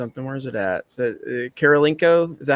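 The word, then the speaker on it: Kurylenko: Is it Karolinko? Is that how you say it? Oh, Karolinko. She's Kurlienko.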